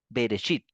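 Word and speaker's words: ברית: bit Entonces vamos aquí a ponerlo esto es berit s bit entonces la el resit que está acá sin el B resit es el comienzo Entonces esta palabra es el nombre del libro del Génesis en hebreo berit Sí así se pronuncia berechit y quiere decir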